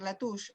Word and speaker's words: Latouche: que se llama serge latouche la touch es se escribe el apellido search como sergio en francés serge latouche y el habla lo